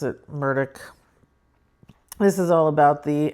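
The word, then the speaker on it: Murdaugh: I know it's spelled Murda, but they pronounce it Murdoch.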